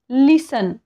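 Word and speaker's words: listen: सी एच आलेला आहे लिसन आपण लिसन म्हणतो का याला नाही लिसन म्हणतो इथे काय आलेला आहे टी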